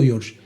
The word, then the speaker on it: George: Y entonces tuve que ponerle la G y pronunciar el Jorge en inglés, George.